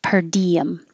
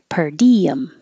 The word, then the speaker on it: per diem: stipend and this is per diem it means per day or each day per diem same thing you're going very high for the D so it comes down and makes a y per diem stub like ticket stub